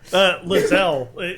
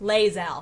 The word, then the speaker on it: Lae'zel: No, Lizelle. She's one of the most. Is that how it's pronounced? Lae'zel. Lae'zel.